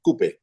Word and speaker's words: Kupay: Kaz has developed this app called a Coupe app, and it's spelled Kupay. It's pronounced Coupe, right?